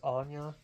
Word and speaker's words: Anja: The girl, her name is Anya, but it's spelled Anja.